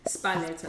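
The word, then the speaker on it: Sparletta: How do you pronounce it? Spalletta.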